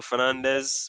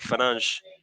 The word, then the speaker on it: Fernandes: That's how I knew it was not Bruno Fernandez, but Fernandes.